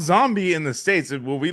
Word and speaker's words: Zombi: To to pronounce it in its original language is Zombie. Zombie. That's Italian. Yeah. And when you do it, you have to let it linger.